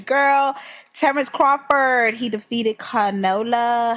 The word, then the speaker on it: Canelo: He defeated Canola. How do you say his name? Canela. Canola. Canoli. Alvarez. Canoli. I think it's Canelo.